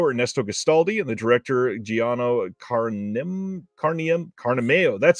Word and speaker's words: Giano Carnimeo: with the writer Ernesto Gastaldi and the director Giano Carnimeo.